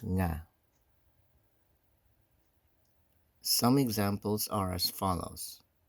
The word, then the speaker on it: nga: If the preceding word ends in a consonant, then nga is used, pronounced nga.